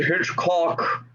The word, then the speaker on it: Hitchcock: I would like to take you home and show you why they call me Hitchcock. Emphasis on the second syllable.